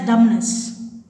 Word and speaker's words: dumbness: receipt is not pronunciation the letter b is silent in the word be humbly dumbness here dumbness should not pronounce you should pronounce as dumbness the letter k is